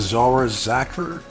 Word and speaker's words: Zara Zacher: Next up is Zara Zacher. That's how you say her name.